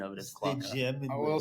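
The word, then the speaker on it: Klauke: is it Clouk or Clouky? It's pronounced Klocka. Clocka? It's pronounced Klocka. Waka. Yeah. German Germans. pronunciation of it is Klocka.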